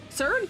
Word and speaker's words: Xrd: Xrd, you're saying it right?